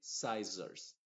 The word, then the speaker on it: scissors: Y finalmente, scissors. En esas palabras, la doble S en medio de una palabra no se pronuncia como una S normal.